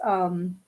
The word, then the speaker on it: Jagdana: But still, I would be, I'll spell that again. It's JAGDANA, Jagdana.